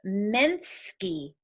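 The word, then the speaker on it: Mnsky: let me get the name correct it is Minsky that's the title of the project it's spelled em en sk y by Maria socha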